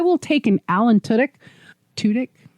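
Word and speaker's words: Tudyk: take an Allen Tudek Tudik. Tudic. Tuttk. So sorry I always say it wrong because I remember very specifically he's just saying it tudik.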